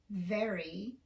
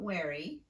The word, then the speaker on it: very: You have to pronounce the V with unrounded lips despite that rounded vowel that's right next to it. So get in front of a mirror and practice these 10 words slowly, making sure that your lips are unrounded when you come to the V sound. Very, not wary.